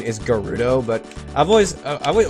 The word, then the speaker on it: Gerudo: always pronounced it as jurita because in it like a soft G like English actually works instead of like the the Japanese pronunciation would always have Japanese always has hard G so I'm gonna run